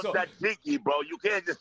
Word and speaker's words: tzatziki: You haven't had no tzatziki sauce in a And minute.